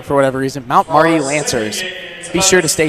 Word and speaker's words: Mount Marty: I always say their name wrong for whatever reason. Mount Marty Lancers.